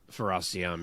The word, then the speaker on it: Fares Ziam: Fares Ziam? Fares Ziam, yeah.